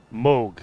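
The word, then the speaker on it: Mohg: interpretation moog okay yeah cause it's like you would pronounce o like o h you pronounce o so if you put an m in front of it and a g behind it's still moog moog be wary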